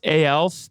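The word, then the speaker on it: aelf: working on behalf of I believe it's pronounced ALS but I could be incorrect so could you just share a little bit about what your first blockchain project was sure yeah so it's called L usually we just pronounce it that way yeah so back in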